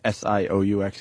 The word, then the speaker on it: Sioux: And then University of North Dakota getting rid of Fighting, how do you say S-I-O-U-X again? Fighting Sioux? Sioux, right? The Sioux.